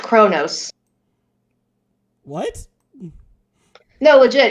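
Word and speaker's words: Qo'noS: it is pr uh spelled q apostrophe o n o s but it is pronounced kronos what no legit it's pronounced chronos the homeworld uh okay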